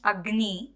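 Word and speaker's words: अग्नि: the way you pronounce agni you you will be telling you'll be putting more stress on g you pronounce it as if it is written like this with a double graph but we write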